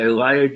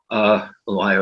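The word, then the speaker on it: Alaya: So okay, a remarkable book by Elia Dorn Johnson. Elia rhymes with papaya, she says on her website.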